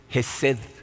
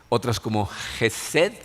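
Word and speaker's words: חסד: está tratando de decir la palabra en hebreo es jessed Se las puse por ahí para que la vean en hebreo algunas personas la pronuncian como gesed pero les voy a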